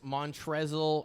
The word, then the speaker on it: Montrezl: Charlotte Hornets Montrezl Harrell It's just pronounced Montrez.